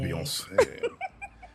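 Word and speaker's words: Beyoncé: name really beyonce yeah you have to say like a french person beyonce um you know what's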